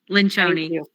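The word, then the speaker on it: Lencioni: And I cannot pronounce Patrick's last name, but I think it go Lynchon.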